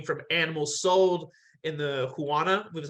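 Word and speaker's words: Huanan: that it came from animals sold in the Huana, which is how you pronounce it, the Huana seafood market in Wuhan, specifically bats.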